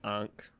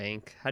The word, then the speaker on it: ankh: is it like a an egyptian ankh or ank how do you say that word i think it's ankh it's one of those